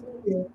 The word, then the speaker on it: Mobile: It's Mobile. It's Mobile, Alabama. Oh, it's pronounced in Mobile. It's Mobile. It's a southern thing.